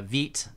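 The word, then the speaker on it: Vite: this is a mistake using uh veet i guess that's that's actually the way to pronounce it is probably not the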